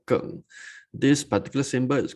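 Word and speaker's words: 庚: We call it Geng, G-E-N-G, pronounced as Geng.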